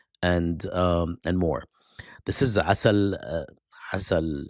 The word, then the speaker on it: Assal: This is Assal, Assal in Arabic, Assal in Persian. I guess they don't pronounce the A.